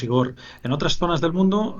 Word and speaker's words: Igor: por el mundo y la gente lo pronuncia de distintas formas, pero bueno, aquí decimos Igor.